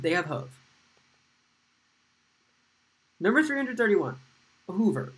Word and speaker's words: Hoover: Hoover. You might think this is pronounced hover, but it's not.